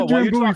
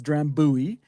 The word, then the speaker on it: Drambuie: And in North America and United States, it's Drambuie, and traditional pronunciation is Drambuie.